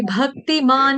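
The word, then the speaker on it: भक्तिमान्: नरः माया माता जी भक्तिमान में आपने न पूरा कर दिया। मान में आधा न है, पूरा न नहीं है।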